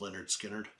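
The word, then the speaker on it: Lynyrd Skynyrd: And that was Give Me Three Steps by Leonard Skinnard. It's actually on their first album. It's pronounced Leonard Skinnard.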